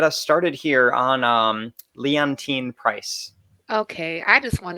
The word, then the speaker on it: Leontyne: show and i'm going to say it wrong lynton price leontyne leontyne oh my gosh that was terrible leontyne price thank you she was born today in